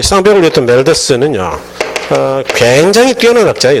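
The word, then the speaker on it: 맬서스: 그 사람은 인구론의 저자 멜더스라는 사람. 요즘 멜서스라고 발음하기도 하는데 인구는 기하급수적으로 증가하고 식량은 산술급수적으로 증가하니까 산화 제한을 하지 않으면 지구는 멸망할 거다 이런 예측을 했던 사람이에요.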